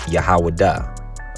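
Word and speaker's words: יהודה: Now, Judah in the ancient Hebrew is pronounced Yahwadah, okay?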